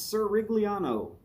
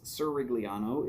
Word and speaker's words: Cirigliano: So run it all together and it's Cirigliano. And the only reason I know that it's Cirigliano is that he has said on a Zoom feed that that's how to say his name.